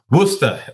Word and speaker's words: Worcester: John, please pronounce the name of that university as a true Massachusetts resident would. Worcester Polytechnic Institute.